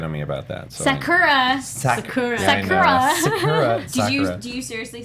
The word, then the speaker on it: Sakura: They change the intonation to the first syllable instead of the middle.